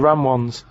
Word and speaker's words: Ramones: Yeah, the ram ones, right?